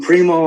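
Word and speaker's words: Primeaux: stuff all right well i'm primo on facebook it's spelled p-r-i-m-e-a-u-x is really easy to say but it's hard to spell that's my actual name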